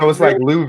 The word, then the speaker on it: Louisville: It's like Louisville. Like pronouncing it real white.